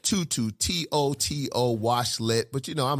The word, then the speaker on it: TOTO: pronounced i said tutu t-o-t-o washlet but you know i'm a geechee from south carolina i call it toto toto like the dog like we're not in kansas anymore okay so toto washlet by definition that